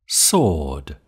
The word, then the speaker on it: sword: have real Rhythm sword sword sword sword the word sword contains a silent letter w the word sword contains